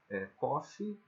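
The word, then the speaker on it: קוף: Kof, pode ser pronunciado como Kop.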